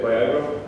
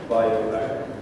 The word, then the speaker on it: BioAgro: Union LIFE project called BioAgro. Some people from the US, when I pronounce it very fast, they say, "Did you say Viagra?" BioAgro.